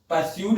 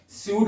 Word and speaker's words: pseud: Next word देखते हैं, सूड, PSEUD, इसको परस्यूड नहीं बोलेंगे, स्यूड बोलेंगे, P साइलेंट होता है इसमें।